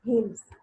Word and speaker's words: hymns: She wrote religious songs, hymns. If you remember, I have told you the pronunciation of this word. It will be pronounced as hymns, not hymns. It will be hymns.